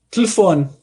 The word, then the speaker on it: telefone: Um português provavelmente vai pronunciar essa palavra algo como telefone. Você não ouve o primeiro E, tá? Você não ouve o segundo E.